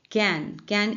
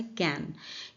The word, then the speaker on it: Cannes: कैन एक French word है, English में इसका प्रोनाउंसिएशन होता है कैन। यहाँ पे बात हो रही है कैन फिल्म फेस्टिवल की। हिंदी में इसको अक्सर लोग कान बोलते हैं या फिर कांस बोलते हैं, लेकिन इसका सही प्रोनाउंसिएशन है कैन।